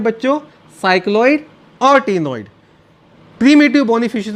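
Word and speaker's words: ctenoid: तो cycloid scale होंगे या फिर टीनोइड स्केल होंगे, सी वुड बी साइलेंट।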